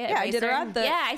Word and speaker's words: Iditarod: Yeah, Iditarod.